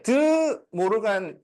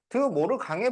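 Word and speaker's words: De Morgan: 나라 사람일까요 영국 사람입니다 근데 드 모르간 이잖아 그래서 사실 어 옛날 우리 수학자 분들은 그 그냥 이름만 보고 프랑스 사람이라고 생각을 한 거야 실제로 근데 이제 그 프랑스 발음으로는 뒤에으로 끝나면은 이게 이응 발음이 그래서 뭐를 강의 된다고 어 그래서 예전에는 이걸 드 모를 강의 법칙 이렇게 배웠어요 근데 나중에 이제 그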